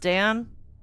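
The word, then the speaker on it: Daan: I think his name is pronounced Dan, but I I have always just given him the name Dawn.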